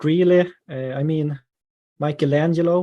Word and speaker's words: Michelangelo: I mean, Michelangelo, we say, or I said when I was a kid, Michelangelo. So Michelangelo with a soft C sound instead.